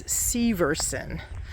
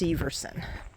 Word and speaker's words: Severson: And I actually have been pronouncing it wrong. It's Severson. I was talking to the lady in the nature center earlier. It's pronounced Severson.